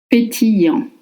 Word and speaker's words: pétillant: Remember that the double L in French makes the sound ye, as in yes or you. And for the spelling A-N-T, you don't pronounce the T, just the semi-vowel en.